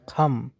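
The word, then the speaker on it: come: সো ওরা সিকে উচ্চারণ করে খ হিসাবে, ক না। আমরা বলি কাম, কিন্তু ক না, খ হিসেবে উচ্চারণ হবে খাম, নট কাম, খাম।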